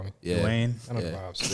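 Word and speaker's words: Duane: Yeah, Dwayne.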